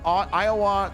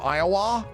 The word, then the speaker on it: Iowa: I'm from Iowa. It's not Iowa. It's Iowa. Is that what you're trying to say? I'm not drawing out the last syllable enough.